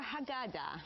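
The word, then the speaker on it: Haggadah: So, it's Can you pronounce this for me, please? The Mitsuda linear Passover. Hagada.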